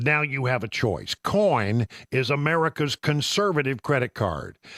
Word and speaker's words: Coign: Coin is America's conservative credit card.